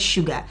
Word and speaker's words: sugar: I saw a meme where a young man was telling a lady that English, the word sugar is the only word that starts with the S but pronounced shoe.